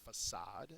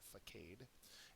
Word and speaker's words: facade: for semblance is a facade that's how you pronounce that word not faade and anonym is contrast